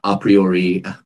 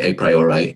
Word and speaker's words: a priori: and the a posteriori at least i'll pronounce it that way some people say a priori are posteriori but i'll say a priori a posteriori um so in this